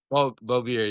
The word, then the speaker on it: Bolbirer: Bolbirer, yeah.